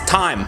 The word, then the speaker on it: thyme: This is thyme, the herb thyme, not like, what time is it?